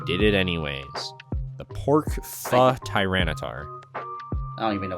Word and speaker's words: pho: I mean, pho's nice. Well, pho's nice. It's pho, right? Not pho. But I'm- it's spelled pho, so it like baits you.